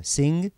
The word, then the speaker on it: sing: Обращаю ваше внимание на произношение, не говорите мягкое «г» в конце. Sing, sang, sung.